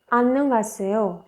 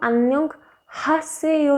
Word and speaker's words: 안녕하세요: तो सबसे पहले हमारे पास है 안녕하세요। 안녕하세요। 안녕하세요 मतलब हेलो हेलो। इसको 안녕 हासेयो ना पढ़ के हम इसको पढ़ेंगे 안녕하세요।